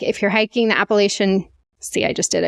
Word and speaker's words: Appalachian: rudely by the way Appalachian is not the right way to say it it's appalachin and I was like oh I had no idea so I like started researching and apparently both ways are correct but appalation is more